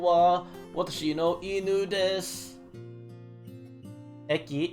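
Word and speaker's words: へ: Or, yeah, the phonetic versus the actual writing. It's like writing wa instead of ha.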